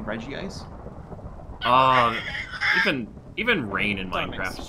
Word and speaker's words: Regice: Well, it's pronounced Regice normally, but like...